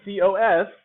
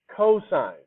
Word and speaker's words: cosine: but it really is cosine okay because we don't cough in my class and if you see tan i it's really tangent because we don't tan in my class keep your clothes on